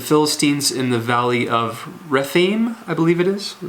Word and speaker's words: Rephaim: Then he goes out to fight the Philistines in the valley of Rephaim, I believe it is. Is that how you say it, Rephaim? Yes, Rephaim.